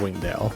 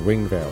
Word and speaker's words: Wingdale: in wingsville Wingdale Wingdale I pronounce my D's like V you know that that's a thing out in Wingdale or Wing Veil as I like to call it it was a small